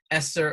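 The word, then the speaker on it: ESSER: and that's um the e-s-s-e-r esther or e-sir depending on where you are on how you pronounce it uh there are three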